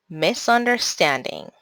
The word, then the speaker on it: misunderstanding: un der five syllables the primary syllable stress is on the stand syllable the secondary syllable stress is on the un syllable so how do we pronounce this word misunderstanding literature how many syllables